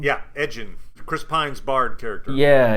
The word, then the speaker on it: Edgin: Is that how you pronounce his name? Yeah, Edgin.